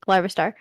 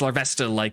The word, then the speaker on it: Larvesta: Including Larvastar. Larvastar, is that their name? Is that not how you say it? I'm teasing you. It's Larvesta, like a Larvest. like Okay. larva and then Esta.